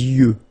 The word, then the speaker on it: yeux: Okay, you make this liaison between the two. Les yeux. Okay, final X not pronounced.